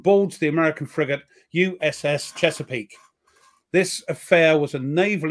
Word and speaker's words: Chesapeake: How do you pronounce that? Chesapeake, yes.